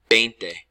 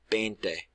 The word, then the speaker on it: veinte: Veinte. Veinte. Te. It ends in T-E. That's pronounced te.